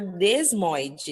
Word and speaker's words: desmoide: eu tive que é tumor desmóide é com s mesmo né a pronúncia ele é um tumor